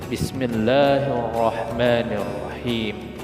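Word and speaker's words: بسم الله الرحمن الرحيم: Jadi cara membacanya adalah L-nya dileburkan sehingga L-nya nggak kedengaran lagi.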